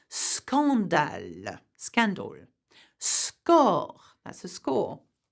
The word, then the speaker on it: scandale: When the SC, however, is followed by O, A, or U, the two letters are pronounced separately. So you would say scandale, scandal.